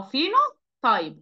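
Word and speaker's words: phenotype: الفينو ايوه اه ا فينو تيب اسمه ايه فينو تيب فيو تيب البي والاتش بتتنطق ف البي والاتش بتتنطق ايه ف فينو تايب فينو تكرها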